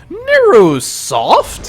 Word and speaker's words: NeuroSoft: team NRS or neurosoft which is spelled in ew r o soft so not neuro like as a Neuroscience but it kind of comes off like neurosoft you know so I don't